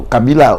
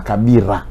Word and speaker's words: Kabila: Kabila, ou à Congo, comme on dit la Kabila. Ou à Rwanda, c'est la Kabira. Bon, on va prononcer la L, on va la Barré, Kabira.